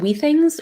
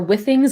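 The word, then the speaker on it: Withings: there's um it's it's called we things or with things I always mispronounce it but it's w-i-t-h-i-n-g-s and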